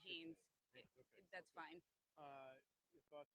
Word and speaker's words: Haines: Okay, and how's it pronounced again? Marsha Lifshitz. You could just say Haynes.